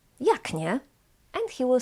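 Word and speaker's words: jak: can be pronounced differently I pronounce this as Yak with K pronounced as C voiceless but for example some people from kco or from posan can pronounce it yag yag so they change the C to its voice equivalent G yag and this is normal this is correct simply we have two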